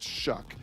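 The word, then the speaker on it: Shough: s h u g h and it's actually pronounced shuck started his career at Oregon he was a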